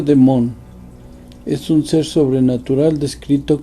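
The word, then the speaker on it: δαίμων: en religión un demonio el griego bayamón que se pronuncia de mont es un ser sobrenatural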